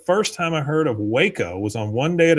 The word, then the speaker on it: Waco: Uh, Arty says, "The first time I heard of Waco was on One Day at a Time, and the joke was that Schneider pronounced it wacko."